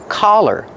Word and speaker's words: collar: Use the sound ah. The open sound ah like hot and stop. C- collar. Don't be confused with color. Color has the short uh sound like cup and up.